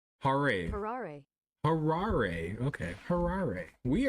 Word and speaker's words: Harare: Pronunciation. Harare.